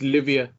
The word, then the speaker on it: Livia Souza: It's Livia. Oh, is it Livia? It's spelled Livia.